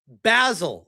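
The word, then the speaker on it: Basil: It rhymes with dazzle. So, I need to call it Bazzle the Great.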